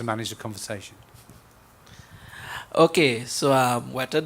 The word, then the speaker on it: Weta: Okay, so Weta Digital, and that is how Peter Jackson pronounces it, by the way.